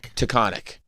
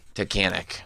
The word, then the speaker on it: Tunkhannock: Taconic. You're both saying it wrong. Tunkhanock.